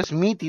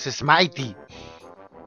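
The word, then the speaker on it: Smithy: Propiedades Mighty o Smitty, no sé cómo lo pronunciarán ustedes, en mi mente era Smitty. Pero creo que la correcta forma de pronunciarlo es Smitey.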